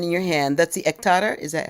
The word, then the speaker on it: ektara: Okay, since you have your instrument in your hand, that's the ektara. Is that how you pronounce it?